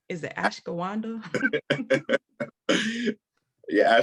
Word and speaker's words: ashwagandha: Is it ashwagandha? Yeah, ashwagandha.